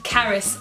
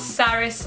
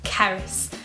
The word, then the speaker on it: Caris: also that's another thing my name is Caris not sarus or SES or anything like that cuz I know some of you guys get a bit caught up in pronunciation sometimes but yeah it's Caris and the next question I